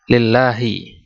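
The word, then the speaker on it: لله: Segala puji lillahi, hanya milik Allah, Rabbil alamina, yaitu Rabbnya alam semesta, pemilik alam semesta. Ini bacanya lillah karena adanya huruf jar lam di awalnya.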